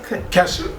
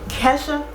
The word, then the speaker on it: Kesha: whole another level kette or what's her name casha Kesha it spelled like k k ratchet white girl that's what